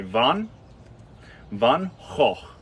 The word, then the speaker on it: Van Gogh: Van Gogh Style and for those who think you don't see Van Gogh like Van Gogh you're right that's how the Americans say it if you want to see Van Gogh like the Dutch you say van ho foreign Vaughn yeah so